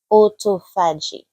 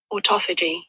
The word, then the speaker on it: autophagy: When you eat, it slows down what is called autoagi. I'm pretty sure I'm pronouncing it properly. One day my English will be perfect. Autophagy.